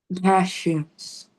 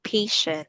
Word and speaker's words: passion: Passions. Okay, very good. So you said earlier patient. So this is passion.